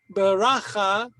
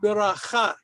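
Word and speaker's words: ברכה: Not beracha, but beracha.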